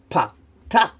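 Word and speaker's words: patach: And then we have a patak. It's a shorter A sound.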